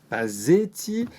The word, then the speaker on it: Pasetti: Aujourd'hui, nous avons un invité de marque, Pazzetti, CEO de Hawk, qui signifie One of a Kind. Est-ce que j'ai bien prononcé tout ça ?